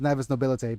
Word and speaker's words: Navis Nobilite: Yeah, it's actually pronounced Navis Nobilite because Cassia said so.